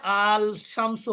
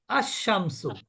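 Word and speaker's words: الشمس: যে শামসুন মানে সূর্য কিন্তু আমি যদি বলি আলিফ লাম আনি তাহলে কিন্তু ওইখানে আল শামসু হবে না ওখানে কি হবে আশামসু ওইখানে হবে আশামসু এটার কারণই কিন্তু হরুফে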